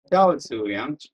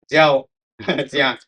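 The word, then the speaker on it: Zhao Ziyang: And how do you pronounce it? Huh? What? Xiao. Xiao Zuyang. Very difficult. I always thought it was Jiao Zuyang.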